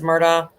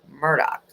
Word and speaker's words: Murdaugh: the murder Murdoch sorry I always want to say it as Murda even though I know it is pronounced Murdoch yes okay hi guys